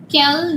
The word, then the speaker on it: quel: Spelling is different, but the pronunciation is the same.